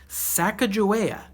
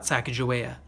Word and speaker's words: Sacagawea: She has a fancy name, Sacagawea. You say it like this, Sac-a-ja-wea.